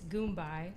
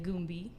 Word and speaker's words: Goombai: It's Goombai. A lot of people say Goombi. Goomba. Yeah. It's like a Goomba.